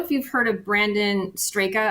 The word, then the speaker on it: Straka: So I don't know if you've heard of Brandon Straka. I'm not sure if that's how you pronounce his name. Yeah, Straka. Brandon Straka.